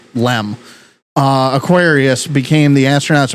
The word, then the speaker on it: LM: Um, so, uh, using the lunar module as a lifeboat, uh, the lunar module or LM, but they pronounce it LEM.